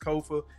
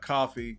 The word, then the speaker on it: Kofa: Again, I am your humble host, Kofa, K-O-F-A, not coffee, not, not Kofi, or any variation thereof. Kofa rhymes with sofa, easy to say, easy to spell.